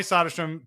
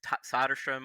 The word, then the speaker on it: Söderström: And Tommy Söderström jumped out at you. Why him? Well, first of all, you mentioned the pronunciation, Söderström or Söderström.